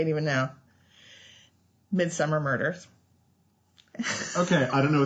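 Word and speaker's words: Midsomer: and still SP Midsummer it is spelled midmer pronounced Midsummer because they're British okay and um but it's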